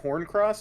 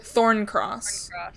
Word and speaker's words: Thorncross: way to get to, is it Horncross, or where is it? Thorncross. Can you write that down, Pastry? It's spelled like thorn of a rose, and then cross, like railroad crossing.